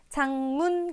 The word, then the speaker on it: 작문: 비음이 유음으로 바뀌었기 때문에 그러면 두 번째 장문 같은 경우에 실제로 작문이라고 표기하지만 우리가 발음할 때는 앞에 왔던 기억을 장이라고 발음합니다. 작을 장이라고 발음하는 거죠. 자, 이렇게 발음하는 까닭은 뒤에 오는 미음의 영향을 받아서 그렇습니다.